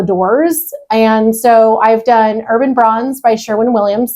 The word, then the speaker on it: Urbane Bronze: And so I've done Urban Bronze by Sherwin-Williams. Some people pronounce it Urbane Bronze because there's an E on the end of it.